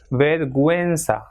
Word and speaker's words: vergüenza: And same way, this second word will be pronounced as vergüenza, because it has got two dots.